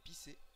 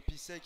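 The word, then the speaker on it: Písek: Que l'on dit dans leur langage pisser. On ne prononce pas le cas. Ah ouais, bah voilà, bah pisser. Après, pour nos téléspectateurs francophones nous dirons Pisek parce qu'on est en France, bordel.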